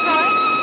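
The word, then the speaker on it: Froy: My name's Troy. Did you say Troy? No, not even Lina. Troy. Sorry, I can't hear. It rhymes with joy.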